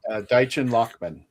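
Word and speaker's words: Deichen Lachman: Deitch or if you I think it's Deitchen Lockman. I believe that's how you pronounce her name.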